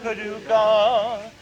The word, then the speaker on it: Paducah: Pa Paducah, Paducah, if you want it, you can rhyme it with bazooka, but you can't poo-poo Paducah.